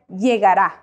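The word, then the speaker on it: llegará: say LJ LG now whenever you see a Double L or two L's together you pronounce that as a y in English that is why you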